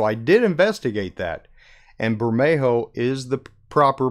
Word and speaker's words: Bermejo: probably right so I did investigate that and Bermejo is the proper pronunciation of his name Oh so anyway I will try since I've called him Burma Jo for so long I'm a mess up a